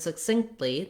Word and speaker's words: succinctly: everyday speech first off the word succinct and succinctly they both have second syllable stress so that means that